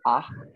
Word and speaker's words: acht: Ya, terus 8 itu acht. Acht. Pakai H. Acht gitu. Ya, betul.